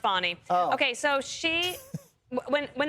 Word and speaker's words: Fani: call her fny it's F spell Fanny but pronounced fonnie okay so she when